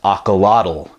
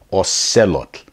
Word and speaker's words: axolotl: but not really but all said look they pronounced Alcala tell and it actually took me a minute of